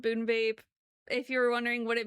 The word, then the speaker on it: BuneBape: So, we have a podcast also called Boon Vape. If you're wondering what it means, it's not a deep meaning. And this sounds crazy. It It rhymes with Runescape.